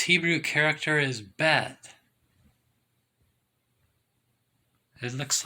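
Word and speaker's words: בית: it looks like it's Beth b e T you can see right there that's the Hebrew character bet you don't pronounce H's in Hebrew I'm no expert by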